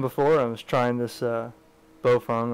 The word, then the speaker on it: Baofeng: I was trying this Baofeng or bowel Fang I've gotten corrected today on YouTube my last video was incorrectly pronounced but we all know